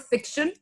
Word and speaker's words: fiction: It's fiction. Fiction. First sound. A sound, the choti E. Yeah. K. Sh. Yeah. And then that schwa sound that we discussed, the sound, remember?